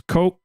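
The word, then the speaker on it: Ko'olau: So it's, and the apostrophe is a glottal stop, I think. I think that's how you say it. Anyway, it means you hard stop. So it's Ko’olau.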